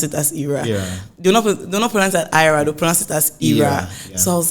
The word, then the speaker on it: Ayra: was like let me check what IRA and I spelled like a-y-r-a yeah and Ira literally